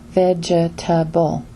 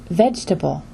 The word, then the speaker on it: vegetable: For example, the word vegetable is not pronounced with 4 vowels, as vegetable, but vegetable instead. This word has only 3 vowels, or 3 syllables, with stress on the first syllable, and the 2 remaining syllables are just the schwa sound.